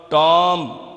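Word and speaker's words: tomb: पे, कंप्राइज मुश्तमिल होना, टॉम ये जो बी है ये साइलेंट है। जब भी बी आए और उससे पहले एम होगा तो बी उस वक़्त साइलेंट होगा। इसके साथ जैसे थम होता है थम, तो इसमें भी हम बी को प्रोनाउंस नहीं करते।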